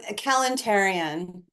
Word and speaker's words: Kalantarian: case I mispronounce see how do you say your surname um kalantarian it's Armenian um I'm not Armenian